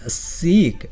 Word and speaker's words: seek: 뒤에는 seek, 무엇을 추구하다라는 그런 의미의 seek는 길게 발음하는 거.